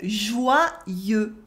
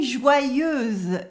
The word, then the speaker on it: joyeux: And the final X is silent in French, as it is often the case with words ending in E. It is a mark of the masculine in French. Do not say joyeuse, joyeuse, because that's the feminine version of the word.